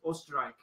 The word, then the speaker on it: Österreich: The German word for Austria is Österreich.